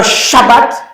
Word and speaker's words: Shabbat: Parce que Shabbat, c'est la contraction, vous voyez, de Shav, et puis quoi? Bat. Et puis boum, on met ensemble. Ça devient Shabbat.